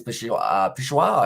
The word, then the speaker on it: Peshawar: And there says Peshawar, I believe that is how you say it.